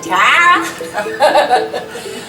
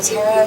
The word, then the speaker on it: Tara: I'm saying it right Tara just like one with the wind or as my my grandparents from the south to say Tara um well Tara is